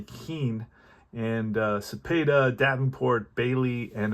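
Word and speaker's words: Kuenn: Mays' cleanup today, Keane, and I thank that watcher for correcting my pronunciation of that name. So Harvey Keane, and Cepeda, Davenport, Bailey, and O'Dell, the pitcher.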